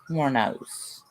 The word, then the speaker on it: Wuornos: It's Aileen Wuornos. Laura pronounces it Aileen Wuornos.